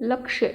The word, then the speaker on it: लक्ष्य: 'लक्ष्य'। ' 'लक्ष्य' का अर्थ यही उद्देश्य है। ठीक है? आपका जीवन का धीमा या लक्ष्य यही है। यही 'लक्ष्य' है। ' 'लक्ष्य', उसमें 'Y' उच्चारण के लिए होगा।